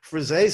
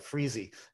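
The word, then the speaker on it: frisée: things suck so some salads suck but that frise salad and thanks for pronouncing it properly i always call it freezy and that's like like a little kid with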